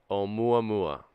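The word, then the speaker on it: Oumuamua: um ma um UA mua that's the correct pronunciation we have a Hawaiian person saying it om mua mua okay so we can call it the right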